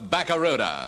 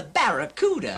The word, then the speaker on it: Barracuda: fast moving Plymouth Fastback the Plymouth bakara hey man the name of the Plymouth Fastback is the Barracuda I know I can't